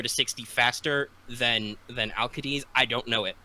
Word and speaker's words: Alcides: It is Archer Heracles, also known as Alcides, I think you would pronounce it as. I believe it's a hard C in Greek, so it would be Alcides. Alcides, something like that.